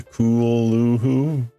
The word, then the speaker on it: Cthulhu: Apparently the pronunciation is something similar to Kulhoo.